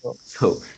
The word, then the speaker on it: gambles: Yeah, but there is S, Gamble. so maybe behind Oh, you need some uh, gamble. gambles. This is Z.